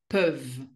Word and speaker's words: peuvent: ils, elles, peuvent. אותו רעיון, לא מבטאים את ה-ENT בסוף, אבל את ה-V כן, את ה-V כן, אז ils peuvent.